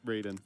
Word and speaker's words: Raiden: Do you say Ryden or do you say Raiden? Raiden. They're I think they're spelled the same way, but yeah.